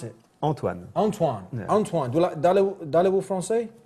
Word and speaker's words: Antoine: Antoine, but how do you pronounce it? Antoine.